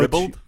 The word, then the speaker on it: ribald: I love Sonny's misanthropy, JVL's militant Catholicism, and Vic Jean's ribald sense of humor. I know ribald? Ribald. You don't know how to pronounce one.